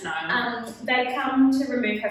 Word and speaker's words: Niall: Nail. I'm not saying it like that. Yeah, no, it's Niall.